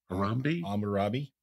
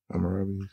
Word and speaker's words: Hammurabi: It's how do you pronounce it? Hammurabi? Yeah. Hammurabi.